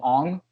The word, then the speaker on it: Aang: The live action where they call him Ong.